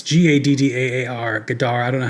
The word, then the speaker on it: Gaddaar: It's Gaddaar. Gaddaar. I don't know how to pronounce it. Yes, it's Gaddaar.